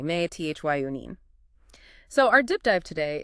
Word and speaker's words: methionine: That's me t h i o n i ne. Pronounced meth yine. Exactly. May t h yunine.